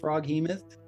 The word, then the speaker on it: Froghemoth: And I just want to say to our audience, we know it's pronounced Froghemoth.